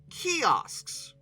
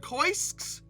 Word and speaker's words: kiosks: In 1992, they added kiosks, which I have historically always pronounced koisks.